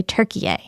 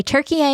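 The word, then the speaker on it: Türkiye: Listen, we say Turkey because it is more closely the way the Turks pronounce their country name, and they wanted to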